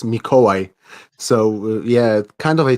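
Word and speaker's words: Mikołaj: introduce mike okay so i'm calling myself nai mike but actually my name is mikoy so yeah kind of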